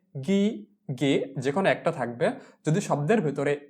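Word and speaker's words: ghiaia: প্রস্থ এরপরে নুরি পাথর নুরি পাথরকে বলা হয় গিয়া গি আইয়া গি কিভাবে লিখে জি আক্কা গি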